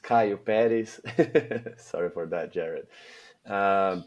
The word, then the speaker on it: Caio Peres: So, my name is like rightly pronounced Caillopis.